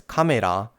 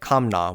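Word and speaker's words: カメラ: pronouncing certain words, like why you should pronounce this as kamera, and not something like kamna, which is a bit closer to English.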